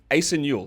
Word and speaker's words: Asa Newell: Is that a Yep, correct I pronunciation? believe So so. Asa Newell.